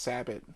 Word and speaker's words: sabot: It can be pronounced Sabot or Sabo, or people call it all kinds of things.